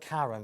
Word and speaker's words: Karen: So it's spelled Karen, but it's pronounced Karen. Karen. The Irish pronunciation, yeah.